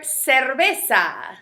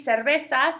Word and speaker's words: cerveza: So you have two ways that you can pronounce the letter C, such as casa with the hard C sound, or cerveza. See, cerveza sounds kind of like an S.